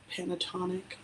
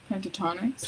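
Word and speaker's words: Pentatonix: I been listening to I'm going to get this name wrong. Pentatonic. Pentatonics.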